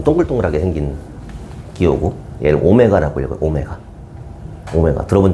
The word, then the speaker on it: 오메가: 약간 W인데 좀 동글동글하게 생긴 기호고, 얘를 오메가라고 읽어요.